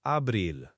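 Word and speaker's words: abril: The A as in father. DC is like in English. And the I is like the E in tree.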